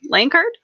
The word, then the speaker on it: Lankard: butcher your last name I hope I'm saying it right lanard yeah just rhymes with Tankard okay about what I